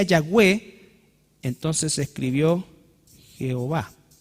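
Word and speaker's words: Yahweh: H No es cierto ahora cómo se pronunciaba exactamente esto nadie tiene idea exactamente cómo era los más cercanos dicen que se decía yagé y como se decía yahwe Entonces se escribió Jehová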